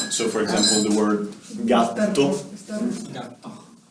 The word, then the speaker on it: gatto: So, for example, the word gatto. This is 2T. Gatto, which means cat. Cat.